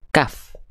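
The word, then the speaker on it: كاف: Huruf kaf itu dilafalkan sama kayak kita melafalkan huruf K pada abjal alfabet ya. Buku, kaki, kaku. Nah, itu adalah huruf kaf. Namun yang akan izin kita highlight ya dari huruf kaf ini pastikan ketika kita melafalkan kaf dia keluar perecikan nafasnya.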